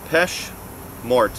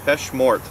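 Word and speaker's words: Péché Mortel: cl and it's the pesh mort i'm told that the l is silent but we'll try the peshmort here's what you got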